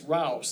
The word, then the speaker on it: Rouse: that's fine and that's Rouse it's not pronounced any other way there's no H's or anything people keep putting hes in there no it's like house but it's got an r on it anyway there's my